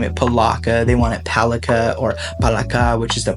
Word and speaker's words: palaka: know I asked her and she said it's pronounced palaka so in talog it's pronounced palaka and I was like oh that's that's super